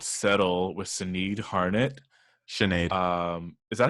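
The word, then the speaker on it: Sinéad: Sinead. Is that how you say it? Uh-huh. It's a Sinead.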